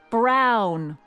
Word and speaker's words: Brown: to a tee that's Emmett Brown rhymes with clown which I'm beginning to